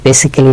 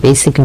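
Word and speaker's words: basically: বেসিকলি এটা দিয়েছে এই কারণে উচ্চারণটা মনে রাখবেন, এটি বেসিক্যালি না বা বেসিক্যালি না, এর উচ্চারণ হচ্ছে বেসিকলি মানে হচ্ছে প্রাথমিক ভাবে।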